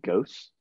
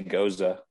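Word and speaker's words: Gose: Is it pronounced Ghost? I say Goza.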